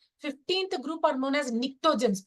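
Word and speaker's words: pnictogens: group are known as niens p is silent here niens 16th group chosens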